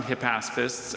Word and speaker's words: hypaspists: 3,000 Hypaspists accompanied Alexander's army when it crossed the Hellespont into Asia Minor.